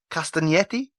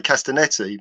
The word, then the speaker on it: Castagnetti: today is I believe do I pronounce your surname castaneti oh well done I get picked up by Italians for not pronouncing it like that because I just say castanetti but you've got the uh the silent G so well done yes